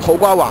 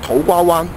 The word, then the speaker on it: 土瓜灣: 土瓜湾，但喺香港嘅广东话入边，同长沙湾一样，习惯将个湾字读成环字。